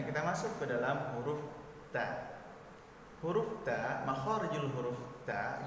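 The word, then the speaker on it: ت: Contoh bacaan huruf yang salah yaitu ta, terlalu berlebihan, ta. Nah, ini salah. Ataupun kita membacanya tanpa hembusan sedikit pun. Contoh, ta, ta, ta, ya, ta. Nah, ini juga salah, tanpa hembusan angin. Jadi yang benarnya adalah ada hembusan sedikit.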